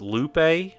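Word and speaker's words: loupe: Is that how this is pronounced? Lupe.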